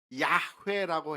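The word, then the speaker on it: 야훼: 어 우리가 하나님의 이름으로 여호와 하나님이라고 하는 표현을 종종 쓰는데요.이 여호와라고 하는 말 이것에 더 정확한 발음이 있다고 한다면 야회라고 해야 아마 더 정확할 거라고 학자들은 추측하고 있습니다.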